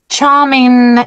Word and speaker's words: charming: Charming, exactly. We don't say letter G, we finish with letter N.